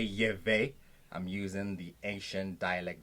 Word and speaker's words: Yahweh: So the name of our God is Yahweh. What we call what you say Yahweh or Jehovah. The correct pronunciation is Yahweh. Yahweh.